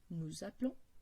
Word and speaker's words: appelons: Notez encore que nous et vous, comme il n'y a pas d'accent ni un double L, les E, il est un E muet. Du coup, on dit nous appelons, vous appelez.